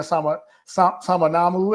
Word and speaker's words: Samanamu: Anna Samanamu.